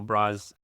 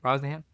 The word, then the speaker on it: Brosnahan: Starring David Cornsweet, Rachel Brosnan? Is that how you pronounce her name? Brosnahan. Well, directed by James Gunn.